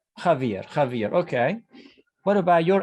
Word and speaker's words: Javier: okay my name is javier it's is pronounced like the h because this is a on a spanish name all right javier javier okay what about